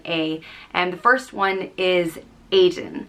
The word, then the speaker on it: Aodh: which means fire and it's just pronounced a a there are two ways to